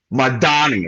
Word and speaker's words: Mamdani: So Madani, right? That's how to pronounce his name.